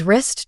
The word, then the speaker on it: wrist: mountain then there's the silent w words like right wrong and wrist drop the W sound please write your name